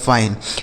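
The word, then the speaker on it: fine: से हो गया दोस्तों फ इस आई का उच्चारण आई हो गया एन ई से न हो गया फाइन एफ आई एन ई फाइन यानी अगर आई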